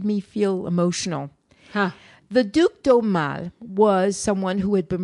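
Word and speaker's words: Aumale: yeah and he was the duke domal the duke domal who was the last prince spell that a-u-m-a-l-e okay he was the last of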